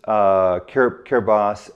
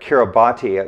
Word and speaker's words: Kiribati: The vegetable oils in three Pacific islands, Solomon Islands, Kiribati, and Samoa, they were exceedingly low, almost zero, and those islands have almost no macular degeneration.